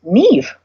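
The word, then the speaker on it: Niamh: them excited and and when you see an Irish name that is spelled and a H M I know that that means Neve which a lot of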